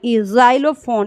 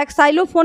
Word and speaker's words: xylophone: तो इस तरह का आता है, जैसे हम लिखते हैं जाइलोफोन, XYLOPHONE, जाइलोफोन। इसको हम क्या पढ़ते हैं, जाइलोफोन नहीं या एक्साइलोफोन नहीं है, ये क्या है, जाइलोफोन।